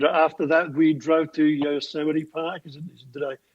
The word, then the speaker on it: Yosemite: So we drove there, and after that we drove to Yosemite Park. Did I pronounce it correctly? Yes, Yosemite you did.